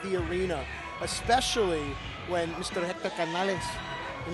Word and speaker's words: Hector Canales: arena especially when Mr Hector Canales and you have to say his name like that at all times is in the building